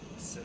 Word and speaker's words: Sinek: little book called Together is Better by Simon Sinek. Am I pronouncing that right?